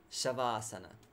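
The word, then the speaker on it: śavāsana: with the corpse pose shavasana so that's normal show like in shine or shiver shavasana yeah and here ends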